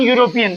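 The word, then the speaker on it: European: लगता या द लगता अब इसका उच्चारण देखो ये है तो स्वर वो वेल है लेकिन इसमें एन नहीं लगेगा क्योंकि इसका उच्चारण यू से हो रहा है और यू शब्द हिंदी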